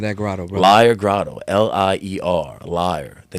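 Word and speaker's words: Lier: there's a Belgian there's a Belgian town called liar where it might pronounce like Lear I'm not really sure but it's the same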